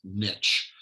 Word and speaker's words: niche: a niche player and for americans who are listening that's niche and the americans there's one thing that rhymes with niche and that is they